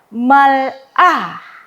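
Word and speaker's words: מלאך: Nah, dua-duanya sebenarnya adalah eh diperguna diperlakukan sebagai eh shewa silent. Sehingga saya dapat membacanya dengan malakh. Malakh.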